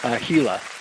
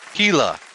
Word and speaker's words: Gila: I thought I'd get you on the Tour of, is it pronounced Gia or Gia? Gila, yeah. Gila.